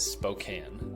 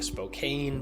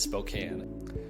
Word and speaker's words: Spokane: So the proper way to pronounce our city's name is Spokane. I'm sure you've been saying Spokane because that would make a lot of sense with how grammar works, but alas, it is Spokane.